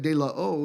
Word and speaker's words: De La O: That's how we ended up at De La O, is where we were at.